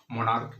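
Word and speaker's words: monarch: करके बताया था कि जब सी एच का उच्चारण चो नहीं बल्कि क्या हो को हो तो उसमें हम सिर्फ एस जोरक ही पल बनाते हैं जैसे एग्जांपल हमने क्या लिया था स्टमक मोनार्क इसमें सीच का उच्चारण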